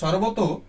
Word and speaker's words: সর্বতঃ: প্রচ্ছন্নম স্থানম লব্ধুম, সর্বদা সর্বত চারদিকে, সর্বত সর্বতঃ উচ্চারণ করবে, কারণ শেষে আমি বলেছিলাম যে ওকার থাকলে সেটাকে বিসর্গে করে নিয়ে সর্বতঃ বিসর্গে উচ্চারণ করবে।